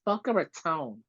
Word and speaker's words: Boca Raton: pronunciation where it's like it's Boca Raton not Tom and someone's like oh